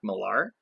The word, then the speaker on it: Millar: It's a little bit of speculation, and I never know how to say his name correctly. I say Mark Millar, and I believe that's what it is.